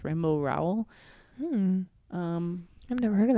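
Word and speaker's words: Rainbow Rowell: Simon snow by rainbow I think it's pronounced rainbow row um I've never heard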